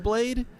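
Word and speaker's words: χ-blade: It looks like an X, but it's key, and so you pronounce it Keyblade.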